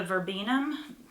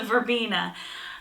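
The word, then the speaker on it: verbena: in the corner by the verbum verbin verbina I'm saying it wrong it's a verbina uh it gets really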